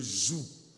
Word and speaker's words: joug: C'est pourquoi je prononce « g », pour que vous compreniez que ce n'est pas la joue, c'est le joug.